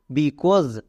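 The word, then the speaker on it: because: AU এর জন্য sound হয় ও, কো প্লাস ও, কোই থেকে যাবে। এস, এসের জন্য জো, এবং শেষে ই আছে, এইটা সাইলেন্ট, তাহলে কি হলো? BE, BCAUSE, কোজ, বিকোজ।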